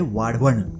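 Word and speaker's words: वाढवण: कोई वधवान बोलता है, कोई वंधावन बोलता है, कोई वधवन बोलता है। लेकिन आपको इस जगह का नाम सही तरीके से प्रोनाउंस करना है तो वो होता है वाडवण।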